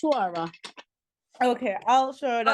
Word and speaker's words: Ash-Shura: No, I don't know Ash-Shura. what that line over here Yeah, is. yeah, same. That's why I was like, I'll pronounce. Ash-Shura.